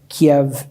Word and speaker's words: Kyiv: We went to Leningrad, Moscow, Kiev, and Yalta. It was Kiev then, not Kyiv, the Ukrainian pronunciation.